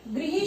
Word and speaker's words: गृह: शब्द भी कहते हैं, जिसे अक्सर बच्चे ग्रह बोलते हैं। ग्रह नहीं है, गृह शब्द है, तो प्रोनाउंसिएशन का यहाँ पर ध्यान रखना है।